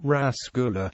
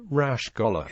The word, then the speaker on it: rasgulla: Rasgulla, locally pronounced rasgulla or rashgolla, is a sweet made with chana and sugar syrup.